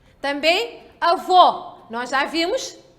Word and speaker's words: avô: Se a sílaba tônica, se indica a sílaba tônica com vogal fechada, então temos que ler estas palavras em que a sílaba tônica tem que sair o som fechado.